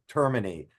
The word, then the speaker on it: Termine: end so termin uh is uh so we termin is the pronunciation angelized American pronunciation we use well there